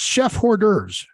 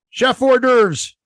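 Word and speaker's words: chef-d'œuvre: not how it's pronounced Chef hors d'oeuvres yeah it's the f is silent Chef hors d'oeuvres Chef hors d'oeuvres it's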